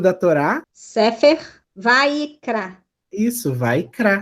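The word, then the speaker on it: ויקרא: Aqui tem uma regra fonética, né? Eu tenho shivá no meio de palavras que não tem som nenhum. Mas, em compensação, eu posso juntar a sílaba. Então, ao invés de falar Vaikra, eu posso ler Vaikra, que é até mais fácil de ler.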